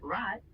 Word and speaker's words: rot: In German, it's often pronounced more guttural, coming from the back of your throat, sort of like gargling. For example, in the word rot, which means red, the R is a bit rougher sounding.